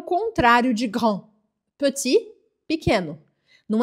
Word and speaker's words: petit: pequeno não é pe presta atenção na pronúncia é pe e esse som que é pe não é pe esse som e e que não existe em português você vai partir de um som do o em português tá vendo a